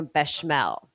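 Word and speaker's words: béchamel: step and make a bashel a bashel sauce b e with an accent c h a m e l but in French just kind of like put them together Bell one two syllables um we're going to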